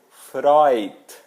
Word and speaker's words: Freud: ainda mais um exemplo aquele psicanalista famoso não é o Freud é o Freud Freud isso mesmo bom seguindo nós vamos